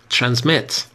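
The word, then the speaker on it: transmit: سینونم دیگه براش بگین ترنزمت تلفظو دقت کنید استرس روی حجاع آخر ترنزمت ان ورب فعله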